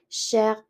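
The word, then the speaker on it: chère: cher, which is expensive, the feminine form, you will pronounce it the same way. It is going to be cher. So masculine cher, feminine cher. It's just the spelling is going to be different.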